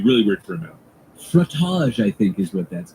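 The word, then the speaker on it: frottage: educator they'll call that frage really f r o TT a g e frage frage it rhymes with fromage and it's just as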